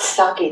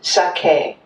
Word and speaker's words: sake: And every syllable is pronounced the same emphasis. So it's not saki that we drink, it's sake.